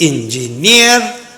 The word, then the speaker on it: engineer: always for example engineer there are three syllables engineer the syllable is on the third one engineer Force what about